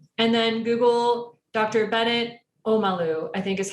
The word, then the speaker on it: Omalu: Bennett Omalu, I think is how his last name is pronounced. It's Omalu.